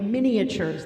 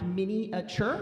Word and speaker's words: miniature: Folk Studio I make Miniatures that's pronounced miniature not miniature and um sort of